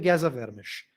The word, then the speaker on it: Geza Vermes: Mas o que o Geza Vermes está fazendo Geza Vermes escreve assim, tá? Só para vocês saberem do que eu tô falando. Se for na livraria, você vai ver outra coisa, né? Geza Vermes. Tá? Mas se pronuncia Geza Vermes.